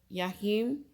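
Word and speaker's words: Jachin: b which stands for yahim and boaz and i may be pronouncing it wrong i just know that jay is silent when it comes to this language the hebrew language okay um i'm gonna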